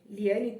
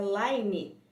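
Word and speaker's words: Laini: Não sei como pronuncia em inglês. Não, é Laine. Será que é Laine? Nossa, eu sempre chamei de Liane. Nossa, tomei um tombo agora. Nunca foi Liane.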